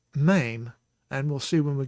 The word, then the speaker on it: mem: I would tend to call that mem, but it is not in fact mem, it is mame, and we'll see when we get to that letter about the spelling of it and why it is mame.